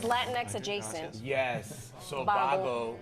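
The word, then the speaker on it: Vago: Bago, which actually is spelled with a V, not a B. It's Bago. Right, but that shows my Spanish, right?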